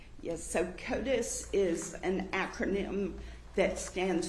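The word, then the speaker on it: CODIS: Can you tell the jury what COTUS is? C O D I S. Yes. So Kotus is an acronym that stands for the combined DNA indexing system.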